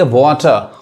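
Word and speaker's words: water: आर ये नहीं पढ़ाए ब्रिटिश इंग्लिश में क्या पढ़ेंगे वाटर वाटर वही अमेरिका में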